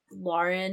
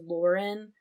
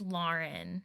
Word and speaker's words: Lauren: Or like, I don't care, but technically, like, Lauren is the right way to pronounce it versus Lauren. It's like, but I knew some people who had the same name who would get mad if it was pronounced incorrectly. It's Lauren, not Lauren.